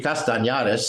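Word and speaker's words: Castañares: But anyway, I just wanted to jettison Castanares It's actually Castanares, if you pronounce it right.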